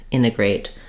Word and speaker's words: integrate: internet will say internet same thing with integrate sometimes we leave that t off in this case I think in the word integrate I often will say my first T sound um uh but in Connected speech you'll hear both ways so it's good to